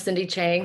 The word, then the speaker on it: Cindy Chang: for the introductions um my name is cindy chang so you pronounced it correctly um and i will